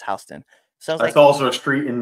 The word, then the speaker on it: Houston: hon Delaware okay it's spelled Houston but it's pronounced hon that's also a street in New York that's